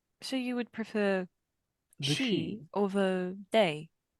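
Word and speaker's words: sidhe: ourselves the she H so you would prefer she or the they s i d h e it's silven for Fairy it's pronounced the she I was asking for your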